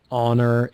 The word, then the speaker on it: honor: R is pronounced and for honor it's just aw oh it's just the sound of the Val that comes after the H which is aw honor that that that